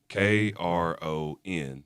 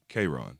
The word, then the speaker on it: K'rojhn: If you just take the J and the H, if you make the J and the H silent, K R O N. Yeah, you might naturally say Kron.